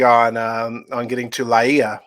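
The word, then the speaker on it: Lāʻie: uh on getting to la ia is how it's pronounced laia hawaii and uh actually it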